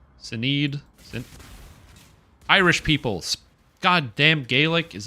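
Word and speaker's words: Sinéad: Sinhead O'Connor. What is this? Oh, yeah. That's not how you pronounce her name. Sinead.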